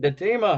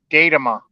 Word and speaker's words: Datima: to the show Chad datima how you doing buddy hey how you doing fellas sir how are you good my name's Ashley pronounce it datama how the hell do